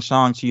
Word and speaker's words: Shang-Chi: And I'm saying Shang-Chi, that's the way the main actor says it. I guess that's how to say it.